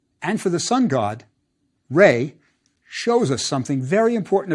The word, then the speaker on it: Ra: the god determinative and that's Ray the Sun God I bet you've heard you pronounced raw that's fine too remember we aren't sure about the vowels the god determinative is